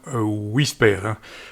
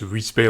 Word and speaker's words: WSPR: Donc, il s'agit d'un petit émetteur Whisper, ça se prononce Whisper en français.